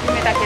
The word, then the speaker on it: 湯雨竹: お湯に飴に酒と書いて夢竹です。